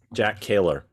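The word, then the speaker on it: Kehler: not say his name his name was uh jack keller jack keller k-e-h-l-e-r um um also uh we had another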